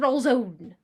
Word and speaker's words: roll zone: Alright, returning to the FPS roll zone. Woohoo! The roll... Pronounced like calzone.